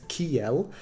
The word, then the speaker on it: kiel: So that's pronounced as KIEL.